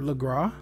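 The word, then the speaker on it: Lagras: by underneath the word legra you don't pronounce the s in this but right here on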